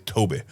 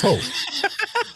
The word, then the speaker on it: Tobe: I don't think his name is Toby. I don't think so. I think it's Tobe.